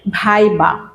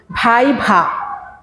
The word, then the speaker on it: ভাইভা: সেটি হচ্ছে যে যেমন তুমি আমরা বলছি, বেশিরভাগ স্টুডেন্টরা বলে ভাই বা, আসলে ভাই বা নয়, ভাই ভা, দুইটাই ভ।